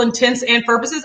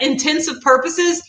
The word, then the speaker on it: intents and purposes: that one I used I had literally thought that intensive purposes was the correct way to say it like I thought that